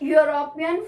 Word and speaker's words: European: Dash European friend. Here the spelling is E-U-R-O-P-E-A-N. It is written with vowel E, but the sound is Y.